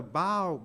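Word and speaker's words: bough: by baby when the bow breaks that's b o you G but it's not pronounced buff it's pronounced bow so even though a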